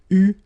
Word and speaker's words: eu: It will become EU, so you will have to write this participe passé form like that. Okay, but you will have to pronounce it U. So remember, main difference or big difference between what you write and what you pronounce. So you write it like that, EU, but then you pronounce it U.